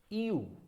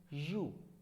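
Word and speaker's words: ewe: EU. No, this is नॉट EU, this is you. Whole pronunciation of this word is you, and you is a female sheep as it has been shown in the picture itself.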